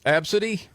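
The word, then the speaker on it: Abcde: Uh the first one was Absidy. Mm, no. There'll be no Absidys. Just spelled a b c d e, but you PRONOUNCE IT ABSIDY.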